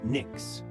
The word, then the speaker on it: NYX: NYX, pronounced NYX.